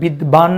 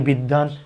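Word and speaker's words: বিদ্বান: এটা উচ্চারিত হবে বিষ আবার যদি আসি বিদান এটাতে বিদবান কেউ বলি না বলি বিদ্দান এই অবস্থায় আমরা উচ্চারণ করব বিদান তারানে এই ব্যঞ্জনটি তখন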